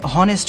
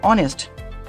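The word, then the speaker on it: honest: এনই এস টি অনেস্ট এখানে কিন্তু হনেস্ট না এটা হচ্ছে অনেস্ট ঠিক আছে এই অনেস্ট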